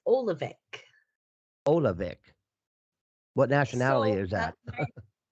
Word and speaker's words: Oluvic: in europe you would say it you would pronounce it here in america it's olavik okay all right we are going to be